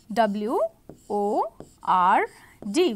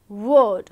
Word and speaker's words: word: a w there okay w o r d we will not say word we will say word we we will not say W word we will say word okay however there is an